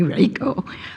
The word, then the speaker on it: Reiko: Everybody can call me Reiko, which rhymes with Seikko, by the way.